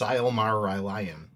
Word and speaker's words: Silmarillion: you it's pronounced Silmarillion. Oh, thank you. Silmarillion.